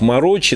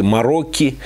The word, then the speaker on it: Marocchi: Многие читают как «Марокки». На самом деле читается это все-таки «Марокки».